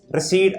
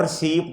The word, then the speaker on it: receipt: रिसीट RECEIPT, और रिसीप्ट नहीं होता, रिसीट होता है बेटा।